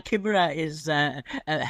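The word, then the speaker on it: La Chimera: Like Chimaera, is it? It's Chimaera, okay. Is that how you pronounce it? That's the Italian pronunciation, yeah.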